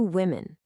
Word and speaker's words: women: Because the O is pronounced with an I sound. The same sound as the I in sit or hit. Think about it. One woman, two women.